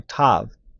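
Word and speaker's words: ת: thing with the letter Tav and the letter tet they're two t sounds and it makes no sense for them to be two t sounds so actually the letter Tav is a th sound and the letter T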